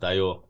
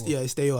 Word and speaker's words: Dayor: but Dayor is like how you'd pronounce that if it was like where the name's coming from.